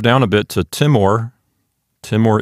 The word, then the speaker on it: timor: Timor is a two-syllable word, so there's not much to talk about. In a two-syllable word, the accent goes on the first syllable because we don't put the accent on the final syllable of a Latin word. So Timor.